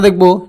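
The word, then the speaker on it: the: যদি vowel sound হয়, আর্টিকেলের পরে যদি যে শব্দটা আসবে সে শব্দটার প্রথম লেটারের উচ্চারণটা যদি প্রথম বর্ণের উচ্চারণটা যদি ভাওয়েল হয়, তাহলে ভাওয়েল সাউন্ডের হয়, তাহলে আমরা এখানে দি উচ্চারণ করব। যেমন আমেরিকা শব্দটা বলার আগে আমরা বলবো দি আমেরিকা, দা আমেরিকা বলতে পারবো না।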